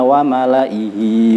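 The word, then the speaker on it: وَمَلَإِيْهِ: Lafadz wa malaihi tulisannya, jadi setelah kasroh ada ya sukun, itu yaknya dianggap tidak ada, artinya dibaca pendek. Mari bersama-sama kita baca. Bismillahirrahmanirrahim. Ila fir'auna wa malaihi fastakbaru. Dibacanya wa malaihi, seakan-akan yaknya tidak ada. Tulisannya ada tetapi tidak dibaca.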